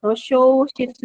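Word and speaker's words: 図書室: Tosho Shitsu. Jadi, I sama Yo-nya bacanya Sho.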